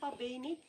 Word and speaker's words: Phabeni: Okay, so Phabeni is spelled P-H-A-B-E-N-I. So Phabeni, but it's like with a P-H.